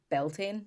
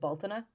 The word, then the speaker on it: Bealtaine: So a lot of people say Beltane. Yeah, I've heard of Beltane. But like we would pronounce it Baltina. Okay. It's Bealtaine. Okay. So it looks like Beltane if you were to read it.